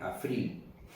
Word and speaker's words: Abril: Aquí en Suiza lo pronuncian Afril, con lo que suena